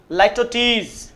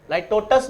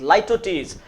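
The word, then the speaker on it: litotes: तो that is called, उसको बोला जाता है स्टूडेंट्स लाइटोटीज, इट्स लाइटोटीज, लाइटोटस वैसे नॉर्मली बोल देते हैं बट इट्स actual pronunciation is what, इट्स लाइटोटीज।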